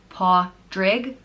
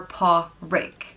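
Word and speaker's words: Pádraig: means nobly born and it can be either pronounced paw rig or paw rake and I think that just depends on where in Ireland you're from because I know some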